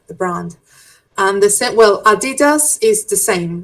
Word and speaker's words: Adidas: Um, Americans say Adidas. No. No. Like Adidas. Adidas. Adidas. Sorry. They say I had an accent. I don't know what I was doing. We say Adidas. Yes. Germans, they don't stress the syllable, so it's Adidas.